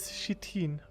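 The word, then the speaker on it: chitin: said it correctly no the correct way is shitin because that's how you pronounce it it's a weird word English is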